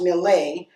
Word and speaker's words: milieu: The milieu, pronounced Millet, was of happenings back home when the men cracked bottles of Johnny Walker Red and ladies sipped glasses of Punch Cuba.